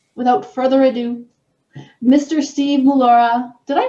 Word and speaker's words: Mollura: Steve Mollura. Did I pronounce that right? Because I remember. Yep, Mollura, you got it.